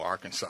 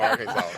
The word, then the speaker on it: Arkansas: Now, do you pronounce it Arkansas? No, Arkansas. Okay, all right. No, Arkansas.